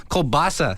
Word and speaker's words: kielbasa: Kielbasa sausage.